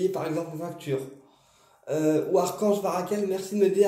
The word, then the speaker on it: Barachiel: Donc, on prend une bougie violette, d'accord, et on va graver Barakel sur la bougie, mais ça s'écrit Barachel. On dit Barakel, mais ça s'écrit Barachel.